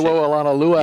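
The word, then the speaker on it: Sewo Olonilua: Shewo, is that how you say it? Shewo Alanalua out of TCU. That's right.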